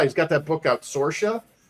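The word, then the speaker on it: Saoirse: Eric July, he's got that book out, Sorsha. And it's spelled Saoiris.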